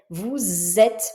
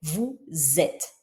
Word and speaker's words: vous êtes: Par contre, dans le cas de vous êtes, là je prononce le S, mais je le prononce z, vous êtes, parce que la première lettre est un e et donc c'est une voyelle, vous êtes.